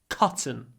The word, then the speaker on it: cotton: then say c c cotton cotton and the a is really short because it comes before an unvoiced T cotton cotton it's made